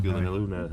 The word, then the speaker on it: Gyllenhaal: And also the film that introduced us to the wonder that is Jake Yes, Gyllenhaal. that's true. That is how you correctly pronounce his name.